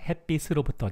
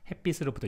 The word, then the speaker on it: 햇빛으로부터: There are shiot sounds, shiot bachim. So people usually say like 햇빛으로부터, just they just consider as shiot instead of cheered. So 햇빛으로부터, you can hear the kind of pronunciation a lot. So 햇빛으로부터, 햇빛으로부터, but they both work.